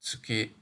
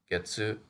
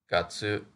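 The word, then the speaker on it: 月: Cloud as pictured here this is pronounced tsuki when it refers to the moon but also can mean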